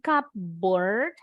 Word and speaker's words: cupboard: Bacanya bukan cupboard atau cupboard. Tapi P-nya berubah jadi B. Cupboard. Bacanya cupboard.